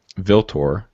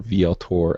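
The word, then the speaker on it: Vltor: Viltor, or Vieltor, how do you pronounce that? It is Roman for Ultor. Ah, so it's not a V, it's a Roman UV thing.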